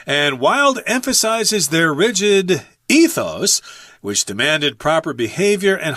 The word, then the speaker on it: ethos: can't change it and the word ethos or ethos or ethos I'm going to say ethos here I like that pronunciation better it's just kind of